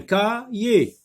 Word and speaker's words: cahier: Il y a un C, mais ici, C avec A. Et en plus, il n'y a pas de CD, donc ça se lit C avec A, ça se lit K. Un cahier.